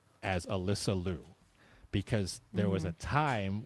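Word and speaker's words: Alysa Liu: And then the other thing I wanted to to address in the chat is Alyssa Louu has told us to pronounce her name as Alyssa Louu because there was a time when all of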